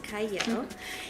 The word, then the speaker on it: Qiayel: I'm your host, Qiayel. It is spelled with a Q, but it's pronounced Qiayel.